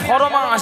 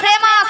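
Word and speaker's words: famous: কথাবার্তা বলি বলে আমি মানে পুরা পৃথিবীতে আমি ফরমাস জানো ফরমাস ফরমাস নয় মাসি বলো ফেমাস ফেমাস বলো ফেমাস ওই তুই উচ্চারণ করতে পারি না ওই তনে কিরকম উচ্চারণ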